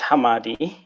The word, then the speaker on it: Hamadi: us back all right so Hammadi it's actually pronounced Hammadi and it is a pseudonym for place also